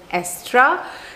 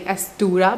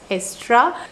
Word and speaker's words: Aestura: It's called Estra. Like, this is the correct pronunciation of the brand. Initially I was saying Astura, but it's Estra.